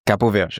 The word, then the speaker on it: Cabo Verde: So okay, for the record, it's Cabo Verde. Cabo Verde. Okay, we got it. That's how they say it, you know.